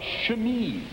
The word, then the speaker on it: chemise: Nowadays, this is called a chemise. A chemise. Very good. Now remember that pronunciation.